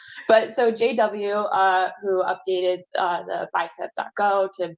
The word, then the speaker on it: JayDoubleu: and I realized that he just spelled out W because it's his last name starts with a W. But so JW, who updated the bicep.go to bump it to a newer version.